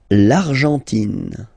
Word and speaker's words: Argentine: L'Argentine. Okay, so you've got this nasal here, en, l'argent, and then tin. Don't pronounce the final it just gives you the pronunciation of the N, in.